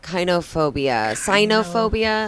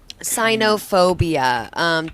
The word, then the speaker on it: cynophobia: The first phobia we have to focus on tonight is Kynophobia. Cynophobia. Sino? It'd be great if we could say it right. Cynophobia.